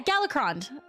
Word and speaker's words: Galakrond: How do you guys say his name? Is it Golacron? Is it Golacron? No, is it was I saying it right? You guys, I'm like, okay, I'm gonna be honest with you. I'm like yeah, Galacrond. Was I saying it right? Galacrond? Yeah? Nailed it. Okay, thank you.